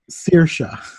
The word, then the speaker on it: Saoirse: before I like it spelled si o ir s e right pronounced Saoirse celtic names that does not sound how it looks but she can't speak